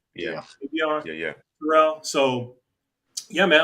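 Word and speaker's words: Avieon: Avion.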